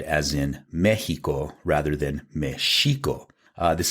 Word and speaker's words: Mexico: was placed there because Mexico is supposed to be pronounced Mexico the X makes that sh sound but the thinking was